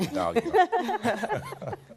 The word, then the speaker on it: Idalia: Idalia, and she just pronounced it so I can get it right, Idalia.